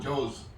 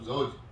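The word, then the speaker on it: زوج: If somebody eats that in the Quran, Joz, instead of Zoj, he's going to make. The person who deliberately didn't read, that's okay because he doesn't know how to pronounce it. But if you pronounce it in that way, it's going to be very wrong what you're saying.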